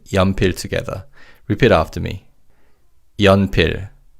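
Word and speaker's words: 연필: Yanpir. And in this word, the first syllable yan means lead in the pencil. Let's say yampir together.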